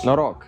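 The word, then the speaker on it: Noroc: right how do you say cheers in Romanian noro noo noo n o r o k yeah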